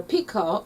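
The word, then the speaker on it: pekoe: royalty house of orange pekka or pico as some pronounce means hair it's the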